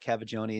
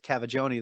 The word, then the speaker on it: Cavaggioni: A lot of people mix up mine as well with Cavaggioni. They're like, oh, you're trying to figure out how to say it. I'm like, it's said exactly how it's spelled.